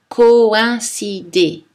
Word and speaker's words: coïncider: comme d'un brouillard grenouille n'oubliez pas non plus que les trémas indique que deux voyelles accolé font partie de deux syllabes différentes par exemple coïncider louis regardons maintenant le